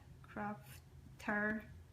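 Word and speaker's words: Qrafter: I use is called crafter it's actually um spelled with q r a f crafter like this and when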